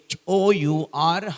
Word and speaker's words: hour: දැන් හොඳම උදාහරණයක් HOUR hour කියන්නේ නෑනේ.